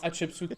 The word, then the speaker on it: Hatshepsut: Alors, il va essayer là ici de prendre Hatshepsut, le marchand. Very good pronunciation.